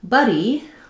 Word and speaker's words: buddy: Whereas in buddy, letter u says the vowelwah, the uh sound, which I often write with letters uh there, the tongue is also at the bottom, but the jaw is not as open.